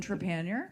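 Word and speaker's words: Trépanier: But let's hear it for Jean Trepanier. Oh, nice. Be impressed with Lost in Thought. He got his pronunciation. Thank you so much. It's Jean Trepanier, but very close.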